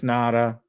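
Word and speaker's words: Ngata: I mean, Joe Nada, who's had or Nagata, I don't know how to pronounce that. Is it Nada? It's Nada.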